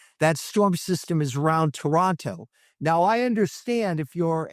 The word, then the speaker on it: Toronto: Canadian city, it's Toronto, they do not pronounce the last T. So if you want to be labeled as a tourist the minute you go to Toronto, say Toronto.